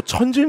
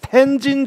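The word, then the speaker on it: 톈진: 그다음에 명칭도 천진 조약이 뭐야? 원어 발음 그대로 해줘야지. 텐진 조약.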